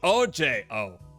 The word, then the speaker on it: Ojette: My name is Ojette, pronounced OJ O.